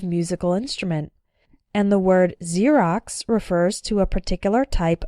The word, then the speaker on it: Xerox: ex-girlfriend ex-husband or ex-wife when X starts a word then it's pronounced like Z there are very few of these words in English but a couple of them are xenophobia xylophone and Xerox xenophobia means fear of